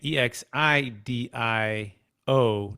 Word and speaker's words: Exidio: x i d i o dot co again e x i d i o dot co um dan the name um exidio